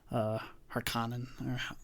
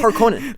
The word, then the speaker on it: Harkonnen: Right, Dave Bautista is a Harkonnen. Harkonnen? They'd say it weird. They say Harkonnen. They don't put as much emphasis on the O of Harkonnen. They say Harkonnen. Harkonnen. Different accents, I think.